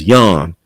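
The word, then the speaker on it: Jan: these names it's weird it look like it's John but it's Yan like the Dutch but by me even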